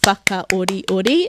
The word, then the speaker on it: whakaoriori: That's what you want to do to help you at the beginning, to get that stress right at the beginning. Once you get that first syllable, naturally the other syllables will rhythmically drop, I like to say.